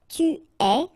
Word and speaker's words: tu es: Okay, so je suis, final S not pronounced, tu es, okay, so it's quite strange because you get this ES, but then phonetically it's est, alright, quite open, tu es.